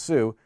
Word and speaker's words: su: the switch user command s u pronounced sue to become another user